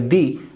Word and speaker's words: the: the pen a depend if I put in some emphasis I will pronounce it as D I want deepen that I gave you